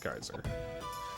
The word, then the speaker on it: Geyser: Let's compare with Geyser. I keep wanting to call it Gazer because that's how Terry Bogard pronounces it.